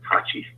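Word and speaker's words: Thaçi: And the current president, Thaci, Taci, I think it's how it's pronounced, was the prime minister back then, but he's the current president now.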